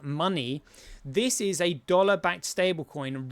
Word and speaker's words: MNWE: So MNWE, which is pronounced money, this is a dollar-backed stablecoin running on the genuine Bitcoin network.